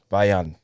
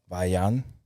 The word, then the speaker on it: Vaillant: The T is silent. Vaillant. The double L is like a Y. Vaillant.